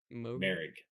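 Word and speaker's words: Moehrig: Is that how you pronounce his last name? Merrick.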